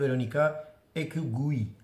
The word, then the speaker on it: Verónica Echegui: İkinci oyuncu Patricia Lopez Arnaliz ve Veronica Ekgui diye okunuyor.